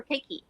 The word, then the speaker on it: keiki: they say activities for keiki and that means cake is uh kids kids okay so you pronounce everything uh you pronounce every letter so k e i k i okay okay okay okay